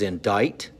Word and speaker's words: indict: vocabulary word number eight is indict the sea is silent that means to be